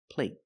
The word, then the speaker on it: plate: Compared with plate. Plate. The stop T makes the vowel shorter. They're the same vowel, they're the long A. But the stop T at the end makes the long A a little shorter.